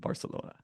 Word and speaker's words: Barcelona: No, it is not a th in Catalan. It is in Castilian, but there's a reason their nickname is Barca and not Bartha.